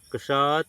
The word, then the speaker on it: क्ष: तब इसका उच्चारण कष कैसे बना है? तो इसको हम लोग देखेंगे। कष की यदि बात किया जाए तो आधा क और मूर्धन्य स है। जैसे कक्षा शमा। ठीक?